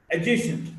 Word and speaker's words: adjacent: Now D in this sequence or the cluster DJ, when D is followed by J, D is not pronounced. Adjective is not adjective, adjective. Adjacent, not adjacent.